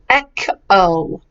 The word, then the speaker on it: echo: the word echo echo the CH isn't Chuck it's AK echo echo good and what